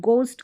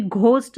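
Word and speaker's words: ghost: हम घ नहीं पढ़ेंगे, इसको यहाँ पर एच तो साइलेंट और जी का उच्चारण ग है तो इसको गोस्ट करके पढ़ेंगे, इसको भी घोस्ट नहीं पढ़ना है। यानी इस जी का उच्चारण ग हो रहा है, एच को हम प्रोनाउंस ही नहीं करें तो गोस्ट करके आप प्रोनाउंस करेंगे, गोस्ट ना कि घोस्ट।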